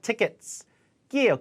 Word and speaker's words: tickets: get tickets get tickets 티켓이 아니라 tickets예요 끼 tickets get tickets